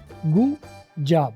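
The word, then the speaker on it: good job: तो गुड जॉब में आप देखें, गुड जॉब, डी और जे जब आपस में कन्फ्लिक्टिंग साउंड्स है थोड़ी थी, तो ऐसे में आप डी की आवाज़ साइलेंट कर देंगे और इनको आपस में रिड्यूस करके बोलेंगे गुड जॉब।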